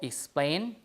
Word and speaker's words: explain: So, for example, explain, the stress is here, right? Explain, you see the vowel A, right? Explain, the stress is on the second syllable because this is not a native English word, right? We borrow it from Latin.